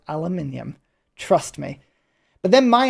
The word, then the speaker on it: aluminium: Oh, it's aluminum. No, it's not. It absolutely is not aluminum. It is aluminium.